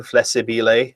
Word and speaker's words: flessibile: Got the extra flessibile nib, and in case that is the correct pronunciation, flessibile. It's not flexible. There's an extra I in there, so but I've got